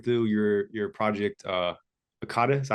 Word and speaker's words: Akata: gonna be going through your your project uh AATA is that how you say it aada yep yep okay um and that's you would